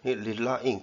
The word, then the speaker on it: relying: 이거를 자꾸 랠리라고 읽어가지고요. relying, 의존하기 이렇게 동명사로 잡았습니다.